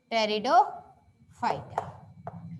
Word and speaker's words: Pteridophyta: है वो क्या है, टेरिडोफाइटा की स्पेलिंग पी से ही शुरू होती है, टेरिडोफाइटा।